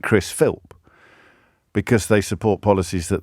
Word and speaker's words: Philp: he just philps sorry philps singular I think philp singular I don't know why I'm getting pedantic about that but I I don't want him getting off the hook because people are getting his name wrong it's p h i l p Chris philp carry onil and uh